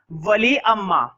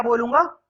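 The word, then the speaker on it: Valliammai: इसका पूरा नाम था वली अम्मा। ठीक है, लास्ट में जो आई है ना वो साइलेंट है, वली अम्मा पढ़ते हैं इसको, लेकिन मैं शॉर्ट में क्या बोलूंगा, वली।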